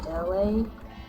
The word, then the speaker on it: Elay: My name is LA, pronounced like, like the city I'm not from there, but I'm breezy.